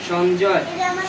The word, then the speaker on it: সঞ্জয়: কূর্বত সঞ্জয় সঞ্জয় সঞ্জয় অন্তস্থ উচ্চারণটা পূর্ণ উচ্চারণ হবে সঞ্জয় বসো যদি নিচে হলন্ত থাকে তাহলে উচ্চারণ হবে অর্ধেক আর যদি হলন্ত না থাকে তাহলে প্রত্যেকটা দ্বর্গের উচ্চারণ পূর্ণরূপে হবে এখানে অন্তস্তর নিচে হলন্ত নাই সেজন্য কি হবে সঞ্জয় সঞ্জয় ঠিক আছে তুমি